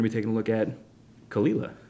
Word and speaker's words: Caol Ila: Isla we're gonna be taking a look at kalila call ela which I pronounced incorrectly a couple episodes ago sorry we're